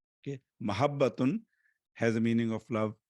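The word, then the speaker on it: محبة: The correct pronunciation is with a fatha on mim and a fatha on ha. Okay, mahabbatun has a meaning of love, not muhabba.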